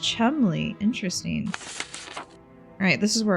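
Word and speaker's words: Cholmondeley: Yeah, it's a weird English name. So it's pronounced Chumley.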